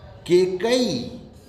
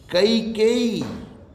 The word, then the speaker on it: कैकेयी: केकई, केकई राम की सौतेली माता जी का नाम था केकई, ये शुद्ध है? नहीं। कैकेयी, कैकेयी, ये बोल ही नहीं सकते, इसको उच्चारण का अभ्यास ही नहीं है हम लोगों को। कैकेयी, कैकेयी ये शब्द है।